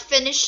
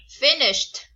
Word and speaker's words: finished: word near finished not finish it no no not that finished with the T sound at the end okay no don't don't